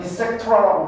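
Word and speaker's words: et cetera: pc도 직하면 안 돼 이거는 이펙트라라고 발음하고 기타 등등이란 뜻이야 말하자 이거 말고도 존나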